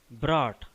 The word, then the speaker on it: brought: Here U is silent. G is also silent. H is also silent.